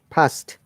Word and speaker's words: passed: She dash She, she would have past passed, past pass, D. We must pronounce the D.